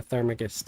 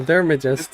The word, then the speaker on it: theurgist: I don't know what a thermagist is.